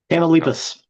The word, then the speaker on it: Tamaulipas: Magdalena came from a poor and most likely dysfunctional family in Tamaulipas. How, Tamaulipas. yeah, how you pronounced it.